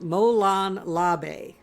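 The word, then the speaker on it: Molon Labe: it looks like this in an American English it is usually pronounced Molan Labe so what on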